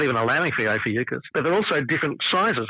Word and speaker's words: Ophiuchus: Someone just announced that it was there, which I've always pronounced it Ophiuchus. Others are saying Ophiuchus, but yeah, Ophiuchus, which is... Yeah, Ophiuchus is how I've always pronounced it. Yeah, I've been a hard C.